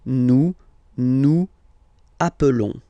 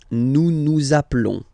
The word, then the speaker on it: nous appelons: Okay, nous appelons, and then little link would be perfect. So let's pronounce the whole thing again. Nous appelons. Nous appelons. Okay, final s doesn't exist. Nous appelons.